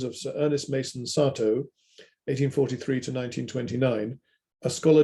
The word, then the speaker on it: Satow: A word on this pronunciation, Satow. I make a point of that because the Japanese call him Sato and then get confused as to whether he was British or Japanese.